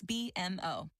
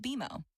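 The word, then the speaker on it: BMO: when you do I bet you'll call us B and m o don't worry it's more common than you think but we actually pronounce it bimo as in with beo you can earn a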